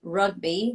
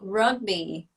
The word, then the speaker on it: rugby: a nanny and I learned how to say rugby with a five-year-old girl because I used to say ugly because in Portuguese we pronounce they are strong yeah a hug me